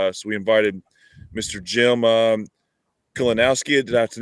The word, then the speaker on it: Kalinowski: Jim Kalinowski. Did I pronounce it correct, Jim?